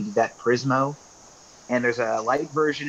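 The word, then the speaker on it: Prizmo: that's still available I remember no I don't prismo is another option and this also an OCR app like can ifb reader it's spelled p-r-i-z as in Zulu m is in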